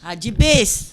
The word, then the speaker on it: Hagibis: It is How do you say the name? Hagib. It's a Tagalog word. Oh, it is? Yeah, Oh, cool. it means swift. Hagibis.